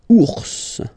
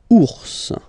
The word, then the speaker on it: ours: You will pronounce this final S, okay? Ours, ours, okay? Remember, so when you combine O, U, you get the sound OU, okay? Ours, and then polaire.